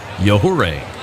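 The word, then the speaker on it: Yajure: at a quick pace his last name spelled by the way y-a-j-u-r-e pronounced yahoo ray the 2-0 love for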